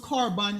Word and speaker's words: korban: It's pronounced korban. It sounds like a K, and it means oblation, offering.